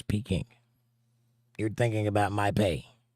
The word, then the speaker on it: Peking: Yes, but I believe it's pronounced Peiking. No, it's Peking.